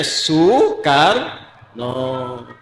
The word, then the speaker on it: Soekarno: Karena itu Presiden Soekarno ditulisnya Soekarno, dibacanya Soekarno.